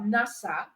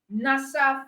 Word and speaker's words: NASA: But in the case of acronym, you are pronouncing as a word, not as individual letters. So you have NASA, NASA for National Aeronautic and Space Administration.